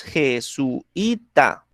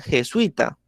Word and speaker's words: jesuita: Efectivamente, yo la puedo nombrar como la pronunciamos nosotros, jesuita, ¿sí? Es decir, separando esta U, este su y esa I, ¿cierto? Pero hay partes donde lo pronuncian de una manera diferente, lo pronuncian jesuita, ¿sí? Entonces no separan el sui, ¿sí? Formando como tal el diptongo, ¿bien? Y aparte de eso, como digamos, el acento recae sobre ese sui, entonces es una palabra